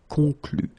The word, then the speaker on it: conclut: Keep in mind that even if you put this final ent, so the ending, you don't pronounce it. So phonetically, you get conclu, conclu, okay?